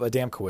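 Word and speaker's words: Adamkiewicz: So the artery of a damco that's spelled adm k i e w i cz.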